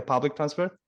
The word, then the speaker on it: public transport: So in that word public transport, those 2 words, public transport, the stress should be on transport, not public.